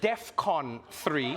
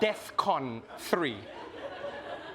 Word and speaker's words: DEFCON: But it's DEFCON 3. All right? Not DEFCON 3.